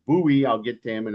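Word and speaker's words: Bue: So, somebody who had a stroke a while back, who goes by the name Buouet, I am reliably uh informed by uh some people I know who are Thai that their name is pronounced buoy.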